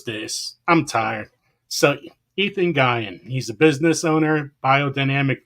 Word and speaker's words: Guion: problem with, guys, because there's different ways you could pronounce it. And it's Ethan Gyan. So, and there's another way to pronounce that, and we're going to go with that.